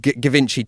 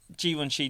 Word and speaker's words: Givenchy: The like kind of like Gavinci t-shirt that has absolutely zero sense of humour, but has convinced themselves because they've got a loud voice, they're funny. I think the Givenchy t-shirt, to pronounce it correctly.